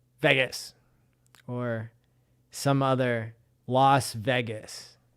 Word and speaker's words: Vegas: He wants me to say Vegas or some other Las Vegas, right? I say it like the vagus nerve, which is a nerve